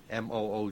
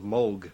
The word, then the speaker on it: Moog: Uh, and in Holland, you would pronounce it mo. Oh, no. That's a little bit too much. Mo, hang on. Yeah, in Germany it's a fairly common name and there it's pronounced Moog.